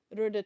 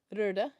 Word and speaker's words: Röda: But it's these ones, Rhoda 2. It looks like Rhoda, but it's the O has a line through it, so Röda. I think it is pronounced Rode.